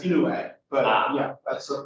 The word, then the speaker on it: Inouye: His name is pronounced Inouye, but yeah, that's a phonetically impossible pronunciation.